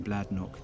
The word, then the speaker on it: Bladnoch: this is the anglicized version of that name bladnock and it's had quite a checkered history uh